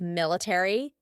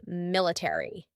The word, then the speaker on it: military: a r y military in British English they often cut out the a so instead of military it would be military military that a is just